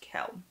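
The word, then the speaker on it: Quell: I know from the a a book it's pronounced Kell until someone discovers her dark secret to hide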